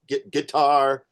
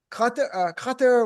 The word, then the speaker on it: Qatar: Because every time um I'm watching this, everyone pronounces it guitar. What's How do you pronounce the name of that country? Does anybody have a definitive answer? I've been there several times. The real way is like cutter with like a It's weird.